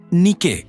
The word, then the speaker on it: Nike: Nike, pronunciado Nike, es la diosa de la victoria.